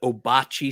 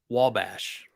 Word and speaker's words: Wabash: was a state park, and everybody called it Obachi State Park. oh no. But what's hilarious is it's Wabash, Mm-hmm.